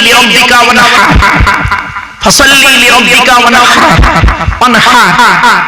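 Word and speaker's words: وَانْحَرْ: ইন্না আতাইনাকাল কাউসার ফাসাল্লি লিরাব্বিকা ওয়ানহার, ফাসাল্লি লিরাব্বিকা ওয়ানহার, ওয়ানহার ওয়ানহার। এই গলার ভিতর থেকে হাইটা উচ্চারণ করবে, হাই হুকিং, হাই হাওয়াজবান, ফাসাল্লি লিরাব্বিকা ওয়ানহার।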